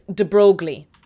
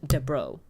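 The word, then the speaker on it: de Broglie: It's d brogley, but you pronounce it de bro. You know, like a bro.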